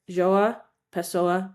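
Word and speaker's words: João Pessoa: Joaha Pesoa, Brazil.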